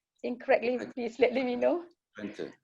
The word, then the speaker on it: Twente: If I pronounce it incorrectly, please let me know. Twente, correct.